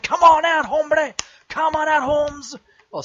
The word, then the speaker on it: hombre: Like, you spell it with an H, but the H is silent.